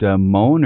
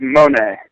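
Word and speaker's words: Mone: Tim, not sure how you pronounce his name. Brian, is it Moan or Monae? It's Monae.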